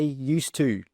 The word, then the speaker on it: used to: one before used to we don't pronounce that D sound we drop it we just say used to used to I used